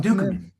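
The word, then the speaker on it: Ducommun: Dukeman, Dukeman.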